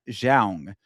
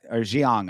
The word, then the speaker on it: Zhang: So this is Angela Hill versus Zhang, or Xiong, I believe is how it's pronounced.